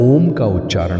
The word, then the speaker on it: ओम: जब आप ओम का उच्चारण करते हैं तो ओ की ध्वनि आपके उदर से उठती है, ऊ की ध्वनि आपके हृदय से होकर गुजरती है और अम की ध्वनि आपके मस्तिष्क के सबसे ऊपरी भाग तक पहुंचती है।